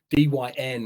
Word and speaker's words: Dyn: And one of the biggest ones to take out most of the United States was the DYN, D-Y-N. I pronounce it DIN, Americans pronounce it DYN.